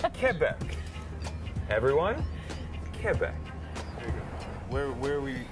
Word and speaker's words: Quebec: Quebec.